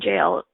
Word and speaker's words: gaol: of the cork county jail in Ireland and in their jail they actually spelled a gaol so but with a hard G it sounds like Jail so the original definition